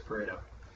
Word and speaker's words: Pareto: Pareto. He was Italian. I'm sure it's Pareto.